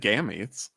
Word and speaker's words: gametes: How's it pronounced again, Spencer? I've always said gametes.